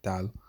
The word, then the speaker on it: 달: You'd pronounce that dal, right?